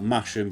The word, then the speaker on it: Masham: Both of them are made out of Masham in North Yorkshire, spelt Masham, but I'm always told that's not how you pronounce it, so Masham will be for the rest of this video.